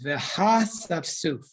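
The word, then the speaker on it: והאספסף: The way you read this is Veha Safsuf. So the word, the aleph in that word does not have a vowel underneath it. At least in my Chumash, so you don't pronounce it.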